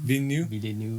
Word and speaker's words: Villeneuve: Villeneuve.